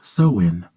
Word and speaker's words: Samhain: Long before it was a night of candy and costumes, Halloween was known as Samhine, pronounced sewin.